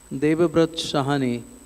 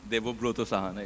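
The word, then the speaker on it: Debabrata Sahana: So actually the pronunciation is Devabroto Sahana, it's a Bengali name.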